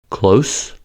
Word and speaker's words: close: In the following examples, the adjective and verb form have the same spelling but differ in voicing. From s to z. Close, close. Diffuse, diffuse.